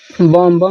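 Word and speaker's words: bomb: देखिए यदि जब कभी यम के बाद बी आए तो साइलेंट होगा। जैसे कॉम मिस कंघा होता है। क्या होता है? कंघा। जैसे कॉम। बम मिस जानते हैं, बम उड़ाना होता है।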